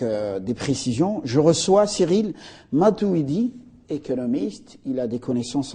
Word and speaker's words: Matuwidi: Bonjour, monsieur Matouidi. Bonjour, monsieur. Matouidi, j'ai bien prononcé? C'est bien ça, monsieur Matouidi.